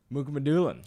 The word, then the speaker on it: Mukhamadullin: Mukhamadullin.